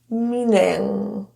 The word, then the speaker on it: meaning: The n and m link together. N rather than been meaning with a pause of any kind, the M actually is produced after and somewhat during the N. The EA is produced as an E sound. Me. The ing will have that lower vowel e meaning.